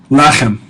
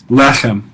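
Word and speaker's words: לחם: Lechem. Lechem. Notice that these words like lechem and choshek and chesed are referred to as segolits, and they're accented on the first syllable.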